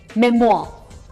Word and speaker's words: memoir: Memoir. That's how it is. र की sound नहीं आ रही इसमें. Memoir. और अमेरिकन प्रोनाउंसिएशन में there's a hint of rolled R towards the end, so memoir.